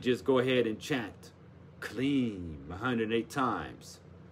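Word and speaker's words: kleem: how it's spelled k-l-i-n-g but k-l-e-e-m is the same vibration write it 108 times say clean did it 108 times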